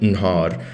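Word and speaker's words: نهار: even spelled differently, but they have the exact same pronunciation, Nhar, because that epenthetic alif thing from the verb, it's not actually really pronounced unless necessary. But like if you just say the word by itself, Nhar, khalas, yani, so it sounds the same as daytime, which is spelled differently.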